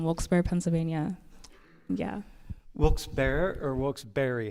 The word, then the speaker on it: Wilkes-Barre: Wilkes-Barre or Wilkes-Barre?